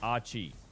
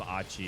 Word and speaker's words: AQ1H: FYI, AQ1H's name is pronounced Achi.